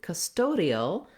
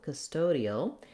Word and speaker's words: custodial: When we change to custodial, now we have the stress on this middle syllable toe, custodial, and here is where we actually are going to say that clear O because that now is the stressed syllable.